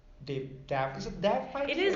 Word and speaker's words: Dav: as successful as, say, Dav? Is it Dav? It is actually. It's pronounced Dave. I don't know why it doesn't have an E on it, but that's Okay.